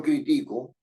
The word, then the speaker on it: critico: cambiar el significado sí si yo digo yo critico es una grave y terminar en o nos lleva pero si digo él criticó tiene que llevar acento porque es una aguda que termina en o si eso es así